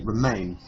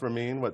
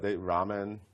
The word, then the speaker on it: Ramin: People can't pronounce Ramin. Ramen. I get so many different things. How many things are there? I just did the national anthem at Yankee Stadium, and I'm there ready to go. Rahim.